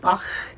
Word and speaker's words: Bach: It's a little bit like the musician Johann Sebastian Bach. You can hear that, Bach, or the Loch Ness Monster.